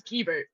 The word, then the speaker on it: Guibert: Is it Guibert or G-Bear? No, it's Guibert.